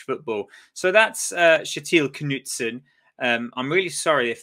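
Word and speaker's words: Knutsen: to people say his name and it is Knutson um the English the English have a funny way of pronouncing uh Scandinavian names it's why a lot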